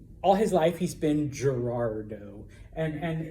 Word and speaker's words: Gerardo: okay what would it be in espanol though Gerardo Gerardo all right so that Gerardo all right now like I said some people pronounce it and it's really hard for me